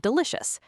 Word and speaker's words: delicious: Let's say you learn the word delicious.